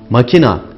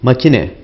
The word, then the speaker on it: makine: Makina değil makine.